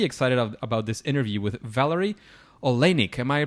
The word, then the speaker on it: Valary Oleinik: So I'm pretty excited about this interview with Valary Oleinik. Am I pronouncing that right, Valary?